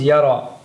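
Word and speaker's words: يرى: But yar'a, perhaps because it's used so often, this is dropped and becomes yara. Right? So yar'a becomes yara.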